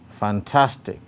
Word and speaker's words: fantastic: so this word is in tension intention number two fantastic fantastic the stroke again is on the second syllable task number three photo